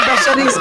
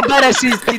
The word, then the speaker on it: Bereszyński: To nie Beszeryński, tylko Bereszyński, debil, naucz się wymawiać.